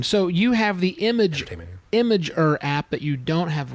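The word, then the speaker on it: Imgur: I don't even know how you say it imer I IMG R imager right yeah yeah imager yeah it's just basically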